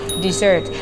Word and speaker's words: dessert: The word for today is นุ่มหวานบ้านนุ้ยนะแต่ว่าเป็นของหวานนุ่มหวานในแบบนี้เราจะเรียกว่าบ้านนุ้ยนะ dessert เขียนอย่างสักทีดูปากคุณอิดออกเสียงให้เมื่อนะคะ dessert แต่ถ้าเป็นทะเลทรายเขียนต่างกันนะคะคำนั้นออกเสียงว่า desert so right now I'm at a